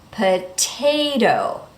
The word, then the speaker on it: potato: In the first T, we say the T clearly. Why? Because the syllable that comes after the T is stressed. Potay, and then the next syllable is not stressed. Potato. Notice that the second T changes to that fast D.